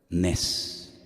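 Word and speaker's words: נס: Nes.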